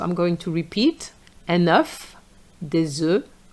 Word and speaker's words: des œufs: We you're going to say des œufs.